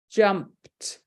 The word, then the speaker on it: jumped: vowed isn't it but think about it jumped jumped that Ed isn't sounding that e isn't sounding is making a t sound so it's only got one syllable in that word hi so we teach